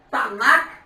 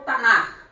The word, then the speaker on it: Tanakh: Em hebraico pronuncia Tanakh ou Tanar.